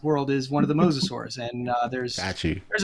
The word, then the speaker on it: mosasaurs: it Moss yours mosasaurus mosasaurs think of your favorite biblical patriarch they are the mosasaurs and they're marine reptiles